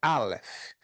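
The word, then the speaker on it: אלף: O Aleph não se escreve com A, L, E, F, E. Não, se escreve com a letra hebraica Aleph, que parece um X, um xizinho, certo? Mas a pronúncia é Aleph.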